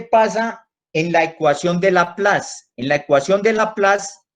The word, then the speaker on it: Laplace: Se escribe, ese apellido de este investigador francés, se escribe Laplace, con C, Laplace, como suena fonéticamente en español.